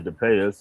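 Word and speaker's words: de Passe: with U Miss Suzanne Depay even though her name is spelled the Pass respectfully. I say Depay because uh Mr. Alex Haley said to Payis and she seemed to recognize that.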